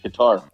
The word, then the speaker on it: Qatar: no I think it's I used to think it's cutter but I think it is it's Qatar I used to think it was cut Qatar and then I heard